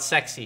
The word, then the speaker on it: S3XY: We got on the back though, S3XY. If you guys don't know, the Model S, the Model 3, the Model X, the Model Y, it's spelled sexy.